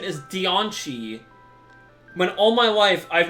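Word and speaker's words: Diancie: has always been pronounced deoni apparently the correct pronunciation is deoni when all my life I've known it as Deany like I I think the advertising for the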